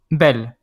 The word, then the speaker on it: belle: Belle.